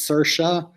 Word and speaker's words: Cerchia: sercia like i said it's spelled weird but it's pronounced sercia i hope that your